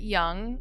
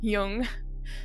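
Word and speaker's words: Jung: your last name and I pronounced it young and it's Yung so I'm doing it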